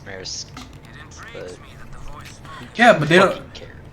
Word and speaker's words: maraschino: Anyway, to answer your question about pronunciation, technically, I think Italian pronunciation is maraschino.